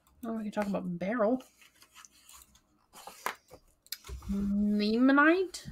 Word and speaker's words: beryl: Oh, we can talk about beryl. Limonite? Beryl. Beryl. I should remember it's pronounced like Earl.